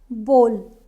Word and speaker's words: bowl: genre is comedy not J genre next is bowl bowl Not Bow no Maggie Bowl popcorn bowl Not